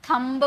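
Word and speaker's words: thumb: यदि किसी वर्ड में एमबी और बी टी एक साथ हो तो बी साइलेंट होता है। जैसे कि थंब यहां पर एमबी है ना एमबी है तो यहां पर जो बी है ये साउंड इसका नहीं है।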